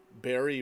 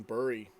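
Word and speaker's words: Bari: Not that it even matters anymore, sadly, but I wasn't pronouncing Barry right. I was saying Burry.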